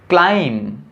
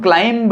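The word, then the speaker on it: climb: जैसे क्लाइम, इसको हम क्लाइंब नहीं पढ़ेंगे, इसको हम क्लाइम पढ़ेंगे, क्लाइम।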